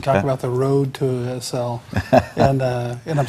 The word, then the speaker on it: ACEL: Let's roll back in time and talk about the road to ACEL. and I'm saying it right too, right? ACEL, yes, thank you.